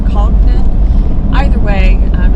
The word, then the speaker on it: Congdon: I don't we we're we're in a disagreement on how to pronounce it it's conden co n d n or conden either way um it's